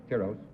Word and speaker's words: Tiros: may I say I guess I stand corrected tyros is the correct pronunciation I was told this afternoon was tyros